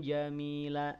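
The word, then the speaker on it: جَمِيلًا: Ini menunjukkan ada panduan cara baca khusus di kalimat tersebut. Ya, ini kan ada contoh nih. Sarahan jamila.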